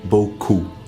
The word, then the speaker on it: beaucoup: I'm pronouncing each sound so first we have all as in bull cool Oh as in boku o as in beaucoup and here hopefully you can notice how round my lips are cool if we compare this with an incorrect pronunciation such as boku for coop or ku my mouth is longer buku buku buku so you've got and